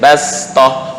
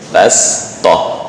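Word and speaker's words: بسطة: Nuhin wazadakum fil khalqi bastoh, bukan bastoh. Beda ya. Kalau bastoh lidah naik ke atas maka berubah menjadi makhraj shad. Tapi untuk ini masuk gharibut tilawah. Shad secara tulisan tapi dibaca sin.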